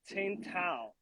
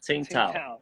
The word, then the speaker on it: Tsingtao: The same thing with the Tsingtao. Yeah. Oh, Tsingtao.